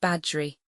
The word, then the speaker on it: Bagworthy: If any man askketh who killed thee, say it was the dunes of Bagworthy asterisk asterisk always pronounced badgery.